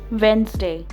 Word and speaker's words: Wednesday: it easy today we'll learn about a few words where the sound of letter d is silent badge badge bridge bridge edge edge grudge crutch gadget gadget cartridge cartridge sandwich sandwich wednesday wednesday ledger ledger handful